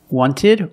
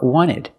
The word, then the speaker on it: wanted: Wanted or wanted. It's more common to hear Americans say wanted. You have NT in the middle, the T is silent.